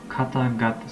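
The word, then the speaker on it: 方々: So like katagata, so kata turns into gata, right?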